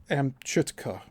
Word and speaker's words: Amchitka: It has let further contracts for construction of four test holes to a depth of 6,000 ft on Amikita or Amchitka AM CI TK A.